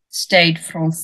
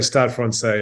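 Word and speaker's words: Stade Français: now you're currently at stade France is that how you is that the right pronunciation or well it's close I think they say start Fran say yeah it's one of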